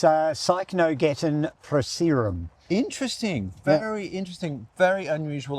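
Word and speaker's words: Cycnogeton procerum: Okay, you pronounce the botanic name. Oh, do I have to? Yes. Yes, it's Cycnogeton proceratum.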